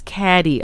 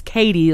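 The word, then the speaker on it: Cady: the class right and he pronounces her name as caddy okay the spelling is c-a-d-y which is one of the major jokes in the film you know her name is katie like k-a-t-i-e but it's spelled caddy so everyone calls her catty instead of katie and so katie tries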